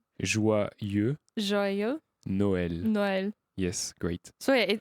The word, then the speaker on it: Joyeux Noël: how Joyeux joyeux Noël.